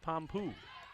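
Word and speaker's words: Pampuch: katie pompeo got it it doesn't look like that it's spelled p-a-m-p-u-c-h but coach told me she pronounces it pom-poo seven rebounds to three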